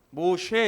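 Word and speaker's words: משה: 신들의 아들이라고 하는 뜻이 모세라 하는 모쉐 이렇게 발음합니다 모쉐 모하면 신들의 아들이란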